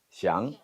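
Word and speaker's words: 想: 발음 어떻게 해요? 샹.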